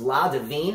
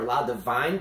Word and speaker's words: La Divine: Her tennis nickname was La Divine, or La Divine, pronounced in English, which means the goddess.